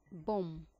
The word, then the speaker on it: bomb: es la de muda bum bomb significa bomba y como verás la ve en este caso no suena lo que ves entre